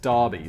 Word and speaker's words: Derby: the uk called derby it's spelt derby but it's pronounced darby so i want to